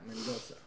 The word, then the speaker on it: Mendonça: Yeah, but the problem is, like in Portuguese, that C has like apostrophe in top. Oh, okay. And it's pronounced like C. It's like a slash kind of thing. Okay. Yeah, Mendonça.